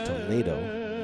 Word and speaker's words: Toledo: It's not Toledo, it's Toledo, now that I see the routine.